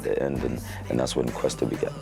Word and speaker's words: Kwesta: Yeah, I was Kwesta with a Q-U, the proper way to spell it.